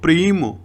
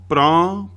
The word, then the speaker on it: प्रां: ओम शनिश्चराय नमः, ओम प्रां प्री प्रो सह शनिश्चराय नमः। ये संस्कृत के प्राम नहीं, प्रां बिंदी होती ऊपर, मैं नहीं होता, एम नहीं होता।